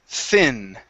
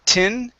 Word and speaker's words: thin: good let's go to the word thin okay instead of tin okay give me a th sound here thin okay one more time tongue between the teeth thin scenes okay so this th is going to be like the theta all right just like